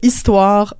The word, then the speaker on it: histoire: Pour savoir si c'est un H muet, il faut regarder l'article qui précède le mot.